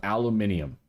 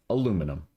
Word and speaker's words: aluminium: some lithium, and some aluminium. Yes, I said it the way it's spelled. Aluminium. It can also be said aluminum, but this one is aluminium because it's European.